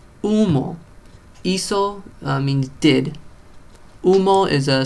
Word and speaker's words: hizo: The H makes no sound. It's just there. I imagine in some dialects it does make a sound, but maybe, who knows.